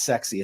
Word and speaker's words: XSY: intentionally this way the the company's name is xie uh xsy uh and uh the way remember it's it's sexy it's a sexy company so xie is how you say the the name and um really